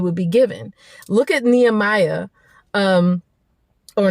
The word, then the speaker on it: Nehemiah: the provision it would be given look at nehemiah um or nehemiah is really how you pronounce it look at him in the hemiah